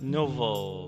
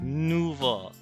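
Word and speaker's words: Nouveau: It's pronounced like nuvo. Make the O sound at the end.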